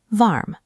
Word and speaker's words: warm: Below that is the red sweater icon for warm. It's spelled exactly like the English word, but remember the pronunciation rule. Apply the shift, change the W to a V sound, and say it out loud. warm.